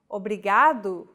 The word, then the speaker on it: obrigado: Don't pronounce it like an English R. Don't roll your tongue. Listen to how Ana is pronouncing this sound. Ri. Think of the quick tapping motion your tongue makes as it strikes the top gum ridge in words like ladder or butter.